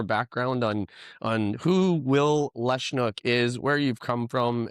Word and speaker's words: Lesniak: So I always thought my name was pronounced Lesniak.